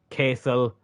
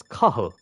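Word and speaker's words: Cathal: how to pronounce ital I've heard Castle which is you know it's close but it's kahul I used to have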